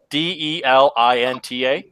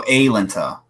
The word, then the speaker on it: Alenta: Delinta. Alenta. Delenta. No, Alenta. Oh, Alenta. Oh, shit. Alenta. It's like placenta.